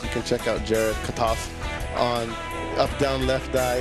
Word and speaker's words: Kotoff: So, say it like as if you want to say Molotov, but say Molotov. Molotov.